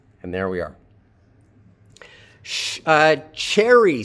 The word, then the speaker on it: Cherry: Cherry. So Cherry, according to Cherry, the pronunciation of her name begins with an affricate. It's not sherry, it's cherry. So che with a stress on the first syllable.